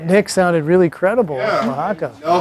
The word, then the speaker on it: Oaxaca: Online, Carmen has spelled it phonetically JUA-HA-KA, like Juan, like you say Juan. But then somebody might think it's a hard J. Oaxaca. Yeah. W-A. I would have done W, yeah. So you W-A-H.